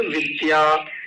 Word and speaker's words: विद्या: इसको चिम बोलते चिम चिम नहीं चिम जैसे विद्या विद्या को कुछ लोग विद्या बोलते हैं विद्या ये तो सही उच्चारण है और सही लिखा भी है औरते